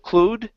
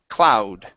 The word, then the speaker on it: cloud: word cloud okay so instead of clude it's an ow sound cloud cloud okay good one